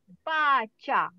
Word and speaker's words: baca: And others one, C, A, cha. Okay, cha. This is a very important. Oh, I thought I jumped now. Okay. C, A, cha. So, ba and cha. So, the combination ba and cha makes a one word, ba cha.